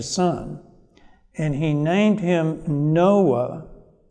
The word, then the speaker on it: Noah: and he named him noah no ah is the way it's pronounced in hebrew and it's very similar to the sound that occurs in hebrew for the word comfort and so there is